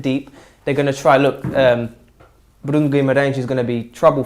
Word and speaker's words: Bruno Guimarães: Bruno Guimarães. Bruno Guimarães.